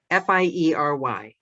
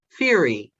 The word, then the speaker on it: fiery: fury yes that's what i taught myself and all those gothic novels i read as a child and you know the bodice ripper ones when i was like seven probably shouldn't have been reading them fury turns out it's fiery who knew yes yes